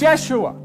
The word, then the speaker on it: Yeshua: Jesus his name was jehoshua pronounce Yeshua you changed it it's